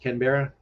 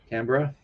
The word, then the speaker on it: Canberra: democracy uh its capital city is Canberra that's pronounced Canberra Ken Veronica Canberra and its largest city is Sydney Australia is